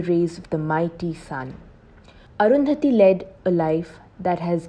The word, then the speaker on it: Arundhati: named after the sun her name divides into two syllables arun and dhati which mean washed by the rays of the mighty sun arundhati led a life that